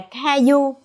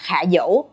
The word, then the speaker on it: 卡游: còn gọi là KAYOU nếu đọc đúng tiếng Trung á thì bạn có thể gọi họ là 卡游 nhưng mà mình nghĩ đọc theo kiểu Việt Nam a gọi là Kayou cũng rất là một cái gì đó